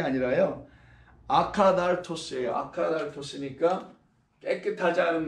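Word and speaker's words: ἀκάθαρτος: 이걸 갖다가 아카달토스, 아카따르토스. TH 발음인데요. 우리말로 이렇게 써야 되겠죠. 아카따르토스라고 쓸 수밖에 없네요.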